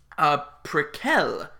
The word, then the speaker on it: Prequelle: top two or three precal which is how Tobias Forge pronounced it when I went to